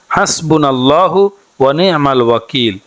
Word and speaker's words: হাসবুনাল্লাহু ওয়ানিমাল ওয়াকিল: যাহারা আরবিতে না পারবেন বাংলাতে উচ্চারণটি এভাবে শিখবেন হাসবুনাল্লাহু ওয়ানিমাল ওয়াকিল হাসবুনাল্লাহু ওয়ানিমাল ওয়াকিল আর